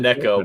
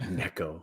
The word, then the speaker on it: Nico: name again yeah Nico yeah okay I said Necco I was like should you just play that